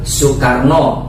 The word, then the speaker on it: Soekarno: Kayak misalkan contohnya kayak penulisan nama Insinyur Soekarno, tapi tulisannya kan Insinyur IR Soe Karno gitu, karena O dan E itu dibacanya U gitu.